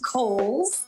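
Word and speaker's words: Cowles: much it is pronounced kohl's uh george cole was a an early land owner developer out in the east county area so holes mountain like the department store and back by popular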